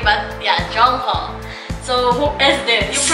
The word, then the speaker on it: Jongho: I'm not sure how to pronounce his name, but yeah, Jongho.